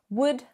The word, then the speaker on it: would: Would, should, and could. No L, it's silent.